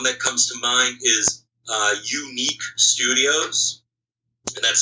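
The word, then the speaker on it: YouNeek: One that comes to mind is Unique Studios, and that's spelled Y-O-U-N-E-E-K.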